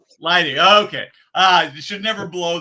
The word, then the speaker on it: Leidig: Did I get that pronunciation right? Leidig, long I. Leidig.